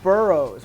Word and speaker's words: boroughs: Bo or ba but in this case it's pronounced kind of like er Burr and then o-u-g-h now